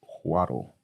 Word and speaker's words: Chvátil: It's spelled Chvatil. But yeah, Google confirms it's pronounced Chvátil.